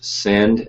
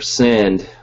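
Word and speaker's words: Synnd: I've used Send, S-Y-N-N-D, I think. It's spelled kind of funkily. It's like syndication. It's like the first part of that word.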